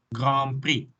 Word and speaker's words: Grand Prix: Okay, the X is silent. The ND is also silent in grand.